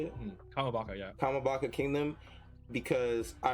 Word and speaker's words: Kamabaka: I'm not gonna lie, I need that broadcast to be rerouted through the Kambaka. How do you say it? Kamabaka, yeah.